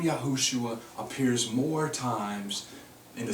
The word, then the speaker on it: Yahushua: also to be yahushua because the full six-letter spelling needs no vow points it's yahushua every time all right so it